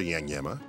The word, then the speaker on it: Iagnemma: Iagnemma. It rhymes with dilemma. His mother, Patricia Iagnemma, was an English major.